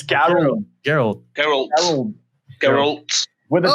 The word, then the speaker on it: Geralt: But I know it's like Garrett. Oh my god. Garrett Bischoff. Geralt. Aces and eights. Garrett Bischoff. Geralt. It's Geralt.